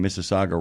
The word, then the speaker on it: Mississauga: Yeah, and I give you points for pronouncing Mississauga right.